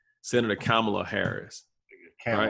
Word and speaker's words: Kamala: He announced that his running mate for the 2020 election will be, and I always mispronounce her name, Senator Kamala Harris. Kamala. Right? I think it's right. It's Kamala, right?